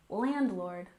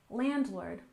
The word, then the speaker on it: landlord: and next we have landlord with a stress on the first syllable landlord landlord if you rent an